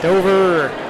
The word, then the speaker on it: Dover: Is it Dova or Dover? Dova. Dova. Dover. Those with with the accent do call it Dova.